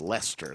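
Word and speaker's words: Leicester: that's what a knit is Amy says it's pronounced Lester there you go thank you Amy two great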